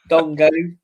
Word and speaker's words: Dango: And then Dongo or Dango. Dongo Dango. Mark McAdam says Dongo. It's spelled Dango.